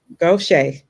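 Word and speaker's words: Gautier: Additionally, your leadership at Pascagoula was instrumental in aiding the Pascagoula, and I forgot the pronunciation of that other word. Give me that again. Gaucher.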